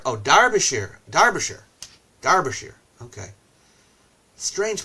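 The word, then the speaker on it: Derbyshire: present that's true uh here in the UK we say derer as if it were Dar oh darbishire darbishire darbishire okay strange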